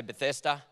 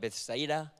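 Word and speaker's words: Bethesda: pool of Beth that we say bethesa they sort of say it like Betha okay but that pool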